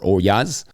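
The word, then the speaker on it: olla: I think the Olas or Oyas, as I think it is properly pronounced, are an interesting touch.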